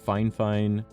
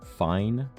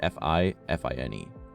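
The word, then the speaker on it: FIFINE: But yeah, it's the Fine, and that is how you pronounce it. Fine, but it's F-I-F-I-N-E.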